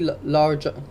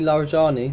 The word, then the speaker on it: Larijani: Um The So, basically, Ali Ali Larja Sorry. Ali Larijani, so I can never pronounce his name properly, the secretary of Iran's Supreme National Security Council, appears amid Again, Oak, thank you, brother.